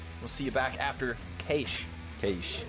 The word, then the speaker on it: Cache: see you back after K Cas is that how they say it C in Australia yeah rushley says it a little different from other Australians but cash is what he said he calling is calling